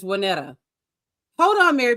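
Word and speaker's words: Waynetta: It's Wanetta. Spell that. W A Y N E T. No A. But it is spelled it is pronounced Wanetta.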